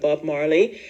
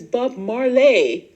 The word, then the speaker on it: Bob Marley: the whole Marley movie was coming out with Bob Marley so there was this Tik tocker and he was pronouncing it says oh the name like oh yes it's Bob marlay Bob marlay ises everyone gonna see the Bob